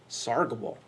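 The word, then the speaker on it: sargable: sergeable and so I say sergeable it's correctly pronounced I am told sargible okay chargeable functions let's take a look at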